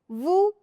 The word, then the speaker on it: vous: The final letter S is silent, so it becomes pa-hee. Voo.